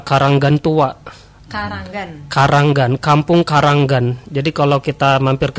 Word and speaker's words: Kranggan: Karanggan, Kampung Karanggan. Jadi kalau kita mampir ke sana itu ee pengejaan keranggannya bukan keranggan ya, tapi Karanggan. Ada a-nya di tengah.